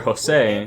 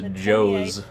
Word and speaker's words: Jose: My brother, Jose, his name is of course spelled Jose, and I am shocked at the amount of people who think it's pronounced Joes.